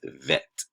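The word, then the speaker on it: ב: the bet and then without that it's vet okay so alif bet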